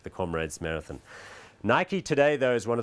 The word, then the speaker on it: Nike: Okay, so Nike, and that is incidentally the correct way to pronounce the brand, not Nike.